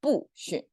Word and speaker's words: 不: no concept in chinese the sound will change depends on the sound of the next character so in this second